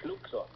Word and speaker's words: Schluckser: You're not going to be able to pronounce it. Really? But it's called the Schluckser.